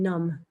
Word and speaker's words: Nam: Om Nam Raksha. Om Kleem Dheem Raksha. Om Klum Raksha. Om Klum, simply without the Raksha. Om Ram Klum. Om Dheem Klum. And finally, Om Ram Dheem Nam Raksha.